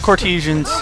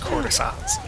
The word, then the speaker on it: courtesan: Damn it, Cortesians. Escape! I think it's pronounced courtesans.